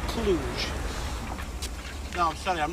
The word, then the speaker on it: Cluj: how much further roy we left clutch hours ago actually pronounced cluj no i'm sorry i'm